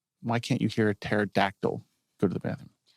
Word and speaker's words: pterodactyl: Why can't you hear a pterodactyl go to the bathroom? Why can't you hear a pterodactyl go to the bathroom? Because the P is silent.